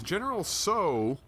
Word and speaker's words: GeneralTso: It's GeneralTso. Okay, so the T is silent. You can pronounce the T a little bit if you wanted to.